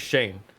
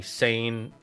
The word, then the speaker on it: Shane: Like, my name is Shane. Worst thing you can do is call me Sane or Shame. It's like, or Sean. And I'm like, you just sound like you're saying it wrong.